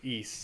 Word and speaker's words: Ys: Rob says, and Ys is pronounced East, so it's the Wanderers of Ys. Ease? Ease like easy, or East? I believe it's East.